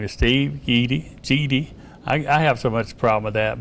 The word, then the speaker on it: Guede: His name is Steve Guede. I have so much problem with that, but it's spelled G-U-E-D-E, but it's pronounced G-E-E-D-E-E.